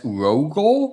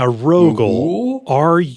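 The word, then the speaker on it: Rogule: I guess Rogal. Yeah. Rogal. R O G U L E. So, it's like rogue but Wordle. Rogal.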